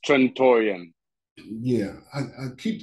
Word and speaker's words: Trantorian: to this game and i keep forgetting the pronunciation of it it's trentorium yeah i i keep saying trent tarantino i keep want to say torentino so i want everybody to really understand this